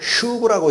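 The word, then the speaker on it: שוב: 회개가 히브리어로 슈브라고 읽힙니다.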